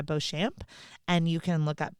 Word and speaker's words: Beauchamp: look up Sarah and your last name is pronounced bamp right y so b a u c h m p Sarah bamp and you can look